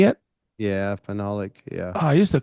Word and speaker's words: phenolic: yeah, phenolic. Yeah. Oh, I used to call it Pahanolic.